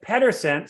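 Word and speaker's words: Pedersen: p-e-t-e-r-s-o-n it's p-e-d-e-r-s-e-n and Americans pronounce it Pederson so I've dealt with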